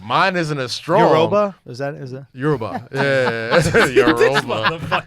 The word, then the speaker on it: Yoruba: It's Yoruba. I don't know what it is. So like That's how they- you would pronounce it.